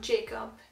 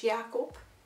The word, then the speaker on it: Jacob: we have caro apple which is not jacob it's jakob from not fan and